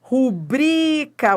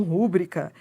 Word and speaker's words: rubrica: Rubrica. O certo é rubrica e não rúbrica.